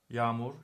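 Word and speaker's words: yağmur: it's all the same yamur yamur means rain okay as you see there's a consonant here there's no vowel here so I pronounce this longer yam y as if there was another a here I always give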